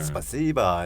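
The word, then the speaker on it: спасибо: 스바시바는 네. 원래는 조금 더 세요 발음이. 네. 스바시바 이렇게 네.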